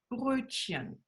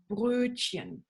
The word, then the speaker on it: Brötchen: So it's not a R, it's a R, Brötchen. Brötchen.